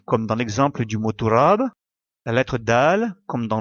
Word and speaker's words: تراب: En arabe, poussière se dit turab, comme indiqué à la droite de l'écran.